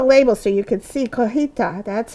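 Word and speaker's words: cotija: And then some cojita cheese, and I kept the label so you could see cojita. That's how you pronounce it, and that's what it looks like.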